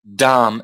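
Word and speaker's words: dhama: you don't pronounce the you don't pronounce the last a so you've got Dam that is AD Dam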